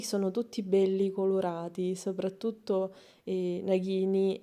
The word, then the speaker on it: Nagini: Io so che si pronuncia Nagini, il serpente di Voldemort, ed Edvige con la lettera di Hogwarts.